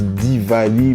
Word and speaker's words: Diwali: lumières emmène en fait à se prononcent divali mais bon quelque part